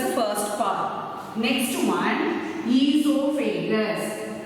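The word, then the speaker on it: oesophagus: Next one, esophagus. O is silent and you have to pronounce it as esophagus.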